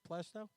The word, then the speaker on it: Plaistow: Is that how you pronounce it? Plaistow.